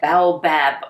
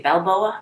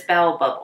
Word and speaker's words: baobab: here let me look baobab oil that's how you pronounce it what did i say balboa in that a town in spain i can't remember what i said but it's bow above oil which is very nice